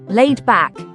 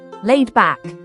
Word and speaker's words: laid back: The pronunciation of laid back is as follows: laid back. You can break it down as laid and back, with the emphasis on laid.